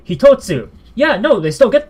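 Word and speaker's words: 一つ: But you add the tsu, suddenly it's hitotsu.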